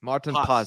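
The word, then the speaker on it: Maarten Paes: Martin Pas. Martin Pas. That's the Dutch pronunciation.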